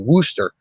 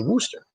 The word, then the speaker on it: Worcester: sometimes uh totally say wooster and a lot of folks who aren't familiar with worcester uh see the spelling it's spelled like rooster and so they'll say wooster so that's in honor